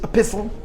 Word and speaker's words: epistle: The English word for letters is epistle, with a silent T.